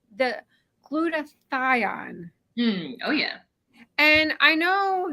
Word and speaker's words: glutathione: like trying to write that word but yes glutathione it's a antioxidant that the the body makes